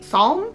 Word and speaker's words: Psalm: I could never say this word. A Psalm? I'm pretty sure the P is silent. I'm just gonna say Psalm.